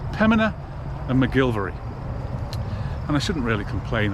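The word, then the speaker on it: McGillivray: mcgilvery and you know he' be forgiven for pronouncing it penina and mcgilly vay based on how they are spelled but I know some of my viewers like me to pronounce things correctly so it's Pina and mcgilvery and I shouldn't really complain I mean you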